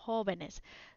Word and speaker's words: jóvenes: But when you make it plural, jóvenes as an accent. So no accent in the singular form, accent on the plural form, jóvenes.